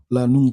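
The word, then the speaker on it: lanugo: babies are fine the premium babies the lingo lano lano lano spell it l a n u g o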